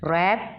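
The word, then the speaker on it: wrap: रैप, रैप में W silent है।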